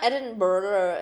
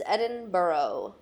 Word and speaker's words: Edinburgh: weird edinb Edinburgh Edinburgh it's not Edinburough it's Edinboro which is Edinburgh to